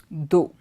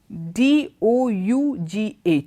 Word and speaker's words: dough: So among these 4 words, which is the word which is pronounced differently? I'll start from the last word, T-H-O-U-G-H. It is do, do. And the word above, D-O-U-G-H.